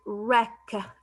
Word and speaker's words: wreck: a gift next word i have the word wreck w silent wreck wreck means ruined broken destroyed